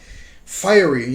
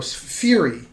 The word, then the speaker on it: fiery: i've seen actors and they have to say the word fiery f-i-r-e-y fiery you know fiery but some people don't know how to pronounce that and they see it written and they'll go fury and then they'll realize oh that's supposed to be fiery so um unless it's